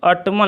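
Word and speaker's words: autumn: To ottoman लिखा था, तो ऑटमन को हम शुद्ध करने के लिए ऑटम लिखेंगे, यानी कि एन को हम क्या करेंगे, साइलेंट कर देंगे।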